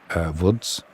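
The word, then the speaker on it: Łódź: He's having a bit of a nightmare, is Krasian, for Woods. Or Lodz, as you would say in the UK. The L is pronounced as a W.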